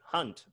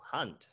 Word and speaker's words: Hand: english but different pronunciation hunt hand there you go hunt right because the german a is ah okay right okay that